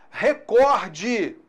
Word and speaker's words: recorde: Cuidado, a palavra recorde, ela é paroxítona, não é recorde, como alguns pronunciam aí.